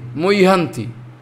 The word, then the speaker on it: muhyanti: Those are Bengali people, they are mujhanti. It's not mujhanti, muhyanti.